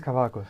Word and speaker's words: Kavakos: Is it Kavakos or Kavakos? I have no idea. It is Kavakos.